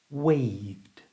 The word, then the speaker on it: waved: your throat V wave so to say this word correctly we use our voice option du so this word is pronounced waved waved in a sentence